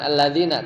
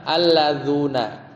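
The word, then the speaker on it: الذون: berpendapat untuk jamak Muzakar bukan alladzina Tapi bacanya apa alladzuna Bil wawi Bil wawi pakai wau kan bukan pakai ya Di mana Fi halatir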